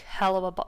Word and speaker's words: Helluva: It's the Helluva pronounced like hell of a Oh, that makes so much more sense.